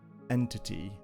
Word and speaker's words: EnTT: our ECS against a very popular ECS called Entity, or ENTT if you want to spell it.